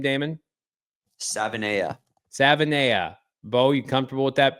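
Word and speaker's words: Savaiinaea: How do you pronounce his last name, Damon? Savanea.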